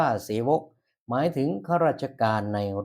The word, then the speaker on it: เสวก: ดี เสวก นะ ครับ ที่ บอก ว่า ออก เสียง ว่า เสวก เ นะ ครับ อ่าน ว่า เสวก หมาย ถึง ข้า ราชการ